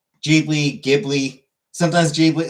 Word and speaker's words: Ghibli: So yeah, Miyazaki himself pronounces it as uh as Gibli. The Italian word would be pronounced Gibli.